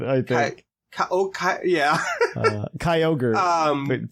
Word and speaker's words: Kyogre: I was 10 when Ruby and Sapphire came out, and for some reason I used to pronounce it Kyrogue, which to this day sounds better name to me. Honestly, it does. I learned the correct pronunciation by none of my new friends.